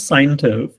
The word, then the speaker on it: Seintiv: So it is pronounced as Seintiv, Okay. Seintiv.